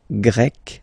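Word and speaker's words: grec: and then you've got GRE masculine form GRE feminine form you write them differently but then if you listen carefully gre gre you pronounce them the same way okay Portugal pug portuges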